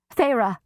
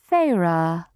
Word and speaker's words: Feyre: "Feyre," Amarantha said, testing my name, the taste of the 2 syllables on her tongue.